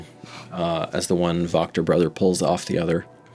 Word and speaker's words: Wachter: It's with the W, but pronounced with a V. Yeah, Wachter.